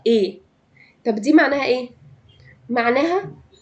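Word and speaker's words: et: بياخد ايه اي تي الاي تي دي بتتنطق اي طب دي معناها ايه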